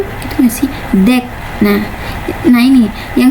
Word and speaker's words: deque: Deck. Nah, nah ini yang secara fonetik itu deck itu diucapkan sebagai deck.